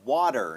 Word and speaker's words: water: ก็ จริง ๆ แล้ว ถ้า เป็น คำ ว่า water นะ ครับ ก็ ดั จะ พูด เป็น ด เด็ก นะ ครับ เป็น ดี